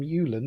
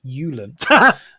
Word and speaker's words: Uulen: but we will not give her a new name from Uulen because that is how it's pronounced, Uulen, not any other way.